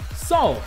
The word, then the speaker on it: Saw: Sol, ou Sal, como você preferir pronunciar.